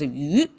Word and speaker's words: 寓: By itself is pronounced as yu, and together they pronounce as yu.